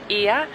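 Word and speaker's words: Οία: one cool fact about oya is that actually in greek it's pronounced ia it's because they're always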